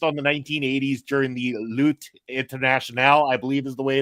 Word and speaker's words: Lutte Internationale: And in particular, we're going to be a little heavier focused on the 1980s during the Lutte Internationale, I believe is the way it's pronounced.